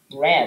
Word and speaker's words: read: I have read that book. The word read is kind of a tricky word, right? Because, well, that's ugly. It could be pronounced read or read, depending on context.